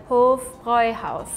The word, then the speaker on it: Hofbräuhaus: You see the A with the 2 dots, right? In German, it's an E. We pronounce it like E. Hofbräuhaus? So you would think it's pronounced like this. It's more like Hofbräuhaus. Hofbräuhaus. It must be because the U going with it changes.